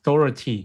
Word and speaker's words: Dougherty: His last name is pronounced as Doherty, not Doherty. Oh, okay. Doherty.